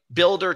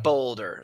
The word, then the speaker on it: BLDR: Like, I mean, builder technically is it, but it's BLDR. Some people are like boulder.